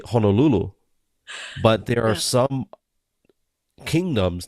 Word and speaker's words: Honolulu: Okay, so yeah, it's not Honolulu, right? And it's I'm not saying that's how you said it, but some people say Honolulu. So in Hawaiian, they'll say Honolulu, but there are some kingdoms that would say Honolulu.